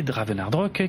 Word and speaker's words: Dravenardrok: Si vous voulez me retrouver personnellement sur X ou Blue Sky, mon pseudo c'est Draven et le nom du compte c'est Dravenardrock qui s'écrit DRAVENARDROK.